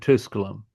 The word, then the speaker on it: Tusculum: If the uh accent if the penultimate syllable is short, then it's on the what they call the anti- penult, right?